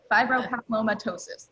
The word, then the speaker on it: fibropapillomatosis: anyone who doesn't know for, I probably can't pronounce it correctly. Fibropapillomatosis. Fibropapillomatosis, there we go.